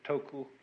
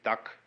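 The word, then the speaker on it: 德: this word death uh the Japanese pronounce it toku these Cantonese duck and the northern mandarins approximately the and in the section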